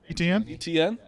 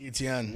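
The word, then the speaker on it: Etienne: will say uh Edney ATM etn that's how you say it Etna it's just no chance you thought it was at me at me I would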